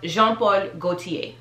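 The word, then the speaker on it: Jean Paul Gaultier: i haven't shopped it but this is just pronounced jean-paul gaultier jean-paul gaultier because sometimes what we have the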